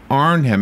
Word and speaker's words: Arnhem: so far away is the Battle of Air Arnhem am I saying it right you are he